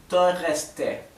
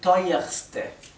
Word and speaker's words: teuerste: Sin embargo, al igual que con dunkelste, el superlativo no mantiene esta R, no se dice teureste, se dice teuerste.